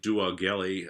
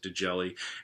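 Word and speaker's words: D'Augelli: um from De jelli it looks like duelli um but I believe the pronunciation is delli and um delli came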